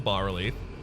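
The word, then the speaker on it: bas-relief: Otherworldly It can be pronounced corruption. Bass Relief or Bar Relief. I think Bass Relief is the UK pronunciation.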